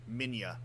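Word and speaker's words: Minilla: enough like it's more it's with a spanish accent that you can only really accurately pronounce the name of his son of the of the what oh oh god godzilla's son minia because they spell it with two l's instead of a y all right yeah sorry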